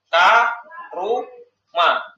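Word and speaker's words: كَرُمَ: Ini ikut wazan fa'ula. Bacanya apa? Karuma.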